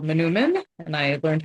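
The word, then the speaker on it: manoomin: So wild rice, also called Manumin, and I learned how to pronounce that from watching some videos on Minnesota Public Radio.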